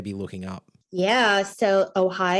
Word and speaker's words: OHAI: looking up yeah so ohigh is spelled oh Ai and it's ohigh not oay um and the website